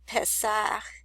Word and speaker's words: Pesach: which is Pesach, or I'm not sure how you pronounce it. I'll just listen to it. Okay, it said Pesach is how you say that in the Hebrew, but as you can